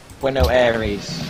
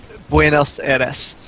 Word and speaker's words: Buenos Aires: Bueno Aires, I'm probably like flubbing all these pronunciations, or pronunciations. Buenos Aires. Yes, that. That's what he said.